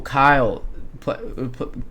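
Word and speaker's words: Cuylle: very well in the postseason you've got will Kyle will KY Kyle that's a very hard name to pronounce it's spelled cuu y l l e uh so will Kyle that's how you pronounce it uh he's been very good on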